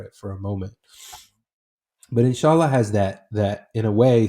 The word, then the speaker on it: inshallah: I believe it's pronounced insala. Um, what does that word mean, and why is that word so important to you? yeah. It's inshallah, and it's an Arabic